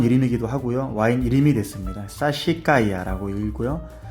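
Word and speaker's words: Sassicaia: 사시카이아라고 읽고요.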